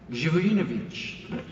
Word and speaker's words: Zivojevic: Zivojevic.